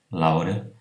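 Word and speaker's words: Laure: Por exemplo, na palavra, no nome próprio, Laura, tem AU, L-A-U-R-E, ele é pronunciado como O e não O, mas normalmente é fechado.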